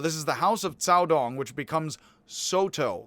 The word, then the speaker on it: Caodong: And then this is the Caodong school, as best as I can pronounce it, and I'm not good at it, but the C here is pronounced a TS, and that is weird.